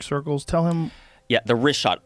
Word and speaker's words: Richat: I used to call it Ricot. I was mispronouncing it.